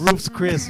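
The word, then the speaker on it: Ruth's Chris: Roofs Chris. It was Roofs Chris. Come on, man. We're all Chicanos here. Hey, man. Say it like Hey, man. it's Roofs Chris. It's Roofs Chris, man.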